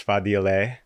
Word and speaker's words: Fadile: This is Fadile. Yes, correct. It's a hard name. I don't blame you. Yeah. Okay, the pronunciation.